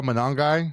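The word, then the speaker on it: Monangai: Uh Kyle Manongi is how they said it.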